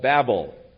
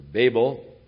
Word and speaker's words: Babel: Therefore its name was called Babel, or Babel, whichever pronunciation you prefer.